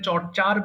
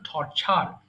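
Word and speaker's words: torture: ঠিক তেমনি এটা চর্চার বলতাম, টর্চার বলবেন। এটা সঠিক উচ্চারণ টর্চার।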